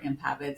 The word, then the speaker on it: Impavid: And No worries, everybody always gets it wrong and can't pronounce Rahbein or Impavid, so it just makes me laugh.